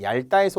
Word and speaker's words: 얇다: 얄 따라다 그냥 우리는 얇다에서 온 거지만 얇다 발음 잘해야 되는 얇다 얇고 얇은 얇게 리을로 발음하는 거잖아요 하지만 접미사의 형태가 오면서